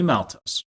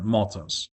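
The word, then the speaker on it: maltose: It's going to be two glucose units and it's going to be malttos or moltos depending on how you would like to pronounce that.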